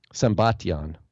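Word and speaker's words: Sambatyon: And then another place says that they are beyond the river I don't remember how to pronounce it, Sembalion. Sembation.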